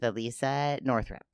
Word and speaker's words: Alissia Northrup: And today I get to have a conversation with Alissia Northrup.